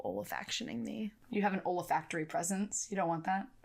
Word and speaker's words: olfactory: Or oralfactually.